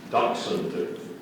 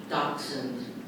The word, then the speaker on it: dachshund: legs short in comparison with the body area dachshund dachshund are there any alternate pronunciation there are several Dark Souls dachshund dog